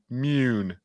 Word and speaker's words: Mune: Yeah, it's probably pronounced Mune. There it is. Mune.